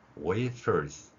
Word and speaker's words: wafers: F는 윗니로 아랫입술을 물고 계속해서 마찰을 내는 소리죠. 따라서 웨하스가 아니라 wafers 이런 발음을 우리가 할 수 있다는 것입니다.